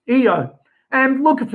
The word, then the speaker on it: Io: Center that one and you'll notice I did not say IO now the reason for that is because it the satellites of Jupiter are named after the lovers of Jupiter in mythology particularly Greek mythology um and in the Greek there is no long I sound it is a short uh e sound so it is EO not IO so all of these